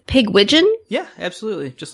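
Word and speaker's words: Pigwidgeon: wrong because i do but i believe it's pig widgeon yeah absolutely just like pigeon butt pig it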